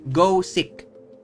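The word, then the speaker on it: Gosick: which was good um it's spelled as God sick okay like go sick like literal go get sick spelled us that um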